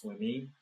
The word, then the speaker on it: Swimme: I think his last name is pronounced Swime or Swime. It's spelled Swimme.